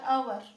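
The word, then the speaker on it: hour: आता हा शब्द बघा एच ओ य आर अवर अवर म्हणजे काय तास आता ्याचा उच्चार स्वराने झालाय का?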